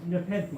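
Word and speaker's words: nepenthe: is nepenthy continue nepenthy is how it's pronounced You can score some of the part of the show.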